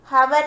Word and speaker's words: hour: Hour नहीं है, pronunciation is hour, ठीक है.